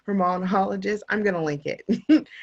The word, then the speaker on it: Hormonologist: Hormonologist.